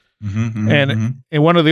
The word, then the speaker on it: Machen: Machen.